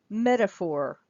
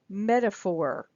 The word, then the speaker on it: metaphor: word is metaphor metaphor so the primary stress is the um the E the first e metaphor you hear that t goes down to the flap D do you hear that metaphor metaphor and so the schwa is this a so this a goes down to the uh sound and the or that is like secondary stress okay metaphor metaphor metaphor